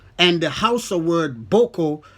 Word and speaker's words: Boko: the house a word Boko the first vowel is long and the second pronounce is a low tone meaning fake which is